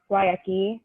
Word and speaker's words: Guayaqui: And I believe it was an Argentino and a Californian dude, I think, who started the brand, Guayaqui, right? Did I pronounce that right?